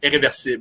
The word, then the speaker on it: Irréversible: It's French, but it's a French movie by Gaspar Noé, named Irreversible, I think in English, but yeah, in French it's Irréversible, which is the same word, but in French.